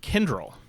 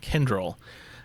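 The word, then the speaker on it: Kyndryl: go with one that kind of sounds like tinder with the new name kendrill and that's not spelled kendrill like any way you probably would think to spell it it's spelled k-y-n-d-r-l again that's k-y-n-d-r-l kendrill and all i can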